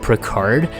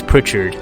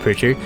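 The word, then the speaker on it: Pritchard: Montgomery here I used to say a Frank Pro card but he corrected me he's like it's it's Prichard because in the game he actually said he's actually pronounced Prichard Frank Richard can imbue lightning now I haven't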